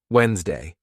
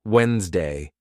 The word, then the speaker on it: Wednesday: Wednesday. Now let's backchain it. Ready? Day, Wednesday.